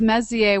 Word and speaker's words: Messier: was looking for and what I love is Messier which were also good to pronounce correctly looks like the word Messier and